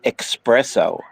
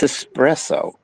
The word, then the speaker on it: espresso: There's a lot of people that they call it espresso stands, but it's not. There's no X in there. It's espresso.